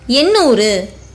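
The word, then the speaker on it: எண்ணூறு: For 800, ennoor. A, a short sound vowel. In, a consonant. Nu, a long sound letter. Both the in and nu belongs to the group of big na letters. While pronouncing it, your tip of the tongue touches the middle roof of your mouth.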